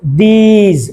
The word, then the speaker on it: these: আমরা আগে বলেছি what's this একদম short vowel সাউন্ডে, what's this, this, আর এখানে আছে long vowel sound. Okay, these প্রথমটা ছিল this, this, শেষে আছে সাউন্ড, আর এক্ষেত্রে হবে these, শেষে আছে the sound.